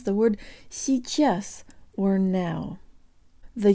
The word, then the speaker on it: сейчас: The ch is soft, so the tongue is high, and there's almost a y sound built in. Сейчас.